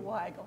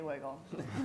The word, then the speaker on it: Weigel: Weigel, thank you. Okay. She's Makes with me cranky if you say wiggle. Yeah, no, that would be with a double G.